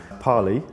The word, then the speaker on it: Parlee: do you pronounce your name and how you spell it yeah it's uh p-a-r-l-e-e Pali it's an Asian Sanskrit language from uh Thailand